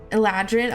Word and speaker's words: Eladrin: to show an El is it called Eldin is that how you say it elad eladrin okay yeah I was like